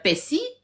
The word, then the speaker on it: persil: Et comme nous, on roule pas le R, les R, on roule pas en fait. Nous, on va dire persil ou persil.